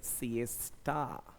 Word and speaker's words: siesta: तो ये ध्यान रखना, एक नाम लिखा मैंने, SIESTA, इसका प्रोनाउंसिएशन है सिएस्टा, सिएस्टा।